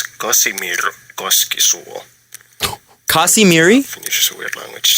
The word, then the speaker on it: Kasimir: in case I was a bit too quick pronouncing the name in the first clip it's Kim kasimir finish is a weird language just yeah I